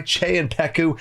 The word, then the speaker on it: Czepeku: This video is sponsored by Che and Peku, and yes, that is how you say their name.